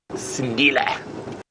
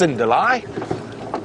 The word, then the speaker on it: Sindile: Of course, we at Safari Live know him as Sindile, or as sometimes we say it, mispronounced, Sindile.